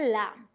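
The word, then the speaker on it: lamb: baby को बोलते हैं लैम बी साइलेंट है सोलम फिर हमारे पास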